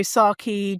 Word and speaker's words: Saartjie: So Saaki, just so you know, it's spelled Saartjie.